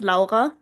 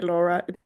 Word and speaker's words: Lara: Yeah, it's German, so it's Laa, but uh you can say Laura.